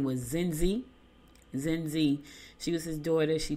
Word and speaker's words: Zenzi: Her name was Zen. I keep saying it wrong. Her name was Zenzi.